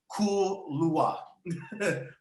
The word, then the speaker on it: Kaluuya: played by the great Daniel, how do you pronounce his name? Kaluuya.